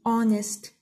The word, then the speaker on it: honest: The silent letter here is H. We say honest, not honest.